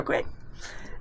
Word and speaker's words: Bequia: How do you pronounce it? Bequia, yeah. Bequia.